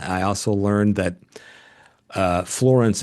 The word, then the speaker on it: Florence: I also learned that uh Florence is actually one syllable, Keith. Okay. How's that work? Florence.